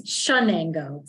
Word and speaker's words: Chenango: So It's Chenango. So it sounds like SH rather than CH. That's Chenango County. I'm the executive director of Chenango Health Network.